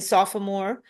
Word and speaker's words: sophomore: So, even if you do you you pronounce the O in sophomore and we don't there's no way that it's spelled.